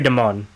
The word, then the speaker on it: DeMunn: Yeah, Jeffrey Demun, I guess is... I don't want to... try to make sure I say it right. Jeffrey DeMunn.